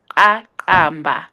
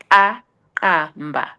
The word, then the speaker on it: Akamba: So it means it's pronounced Akamba, Akamba.